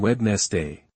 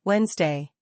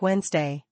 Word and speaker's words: Wednesday: We do not say wedness day. How do we say it? We say Wednesday. Wednesday. Exactly. It sounds like Wednesday. The D is silent.